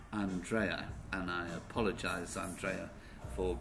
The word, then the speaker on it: Andrea: plan especially written for her name is actually an trai and I apologized Andrea